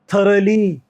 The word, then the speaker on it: thorough: इसको दो बोलेंगे, दो, इसको थ्रू बोलेंगे, और इसको थरे बोलेंगे, थरे, ये ए का साउंड आ जाएगा, थरे।